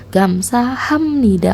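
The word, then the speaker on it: 감사합니다: warna merah cara membacanya Apabila ada B bertemu n maka b nya akan berbunyi menjadi m ini hanya cara baca kalau tulisannya sama sama-sama B jadi untuk membacanya menjadi gam saham Nida tapi ditulisnya gamsah ya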